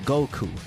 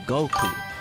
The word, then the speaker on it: Goku: The numbers five and nine in Japanese are pronounced go and queue respectively, which combined sound like Goku.